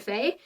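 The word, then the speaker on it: fae: so the last two you pronounce the first one um FEI fair and so it's f-a-e slash f-a-e-r and you would use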